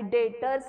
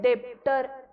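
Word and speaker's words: debtor: डी आय टीओ आर आणि डेटर्स मध्ये डेप्टर असा अजिबात त्याचा प्रोनन्सिएशन नाहीये ओके डेप्टर नाही डी बी टीओ R spelling आहे पण डी कुठेही येत नाही ्याच्यामध्ये प्रोनाऊन्स करताना येत नाही स्पेलिंग मध्ये बी येणार आहे डी बी टीओ आर डेटर आणि क्रेडिटर स्पेलिंग सी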